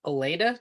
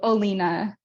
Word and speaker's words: Alina: industry love it uh oh Elena did I pronounce that right I think you were next thank you Alina Alina sorry yes my pronouns are